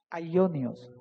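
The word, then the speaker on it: αἰώνιος: Y en el griego original, esa palabra que dice ahí, eterno, viene de una palabrita que se pronuncia así, aionios.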